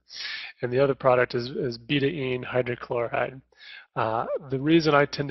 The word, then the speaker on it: betaine: And most people call it betaine, and recently I've read that it's appropriate or proper pronunciation is betaine. And that was primarily because it was derived from beet, and it's a chemical bond, whatever.